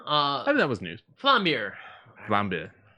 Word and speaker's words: Vlambeer: Flambeer. Flambe. Flambeer. Also, Flambe. it's spelled a bit strange.